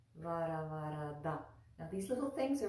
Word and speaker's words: Varavarada: Put that tongue at the front teeth and then draw it back. Varavarada, Varavarada, Varavarada.